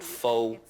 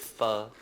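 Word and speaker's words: phở: Pronouncing it wrong. So Not pho, it's pho.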